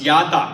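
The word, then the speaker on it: ידע: 希伯來文這個叫做 Yada， In the Hebrew language, it's pronounced as Yada.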